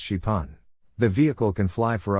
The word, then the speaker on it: Xpeng: that can fly the company calls it Spang pronounced shipon the vehicle can fly